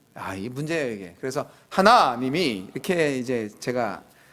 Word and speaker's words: 하나님: 하나님을 아 섬기고 있습니다 이거 발음 치느라고 제가 노력을하고 하고 또 하고 하는데 안 요 잘 빨리 하다 보면 하느님이 이렇게 되거든요 아이 문제예요 이게 그래서 하나님이 이렇게 이제 제가 아